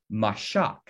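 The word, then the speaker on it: מָשַׁח: comes from a word in hebrew that's pronounced mashak and that word mashak in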